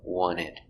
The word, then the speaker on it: wanted: the pronunciation with want we have the letter a but we don't say ah or ah we say uh we saw a lack sound wanted i wanted to we don't pronounce two we pronounced ta i wanted to want it the d and wanted is a stop d so we don't say one in we link the sounds one in together one in ta i